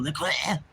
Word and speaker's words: LaCroix: Trying to say it like the French do. LaCroix.